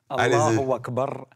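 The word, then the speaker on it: Allahu Akbar: Alors Mathieu, la bonne prononciation c'est avec le Roulé. Allah Akbar, vive la République.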